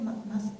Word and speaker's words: Massa: Massa.